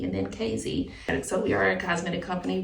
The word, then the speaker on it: KZ Cosmetics: So it's pronounced KZ.